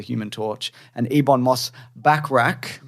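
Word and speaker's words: Bachrach: Torch and Ebon Moss backrack how do you say that back I'm saying backra backra like Bert backrack like Bert backrack uh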